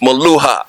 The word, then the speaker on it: Meluha: of having my first maluha and I'm gonna tell you I'm saying it right right yes you are let's make sure I'm